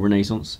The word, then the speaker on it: Renaissance: and this is on renissance blood or Renaissance if the mood takes you to pronounce it that way and this